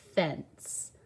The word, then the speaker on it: fence: So I hear a short E. Fence. Now, how do we get that sound? There's no S. It's just that soft C. That E only has one job, to help that C say the S sound.